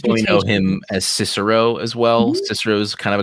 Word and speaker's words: Cicero: pronounce the stroke but kikaro the the c's a little weird in latin so just in case